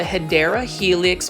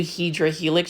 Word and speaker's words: Hedera helix: what you call the hedera helix or English ivy and again for those that are watching my video for the first time I always mispronounce how to say hadera Helix to hedra Helix just because when I